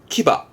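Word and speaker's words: 騎馬: 그게 이 한자입니다. 발음은 키바.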